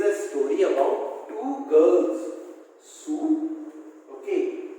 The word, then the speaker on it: Sue: Sue. Okay, don't call her Sui. It is a very bad pronunciation. Okay, so the name is Sue and John C.